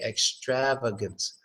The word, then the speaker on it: extravagance: that the third a extravagance right the third a gets a schwa sound so its extravagance not extravagant but extravagance extravagance the